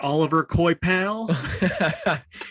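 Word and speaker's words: Olivier Coipel: say it before so i know it's like oliver coy pal he's he's french so yeah uh then james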